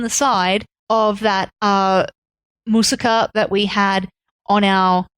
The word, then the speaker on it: moussaka: of our my sister I keep going to say moussaka but I've been cuz I've been saying it wrong so long English we all say moussaka but yeah in Greece in Turkey it sounds like it's actually moussaka yeah it seems to be